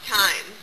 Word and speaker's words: thyme: It's not called thyme, it's thyme. We don't pronounce the H.